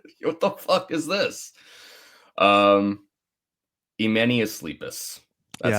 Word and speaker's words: Emenius Sleepus: what the is this uh emanus leepus that's how you say it which uh is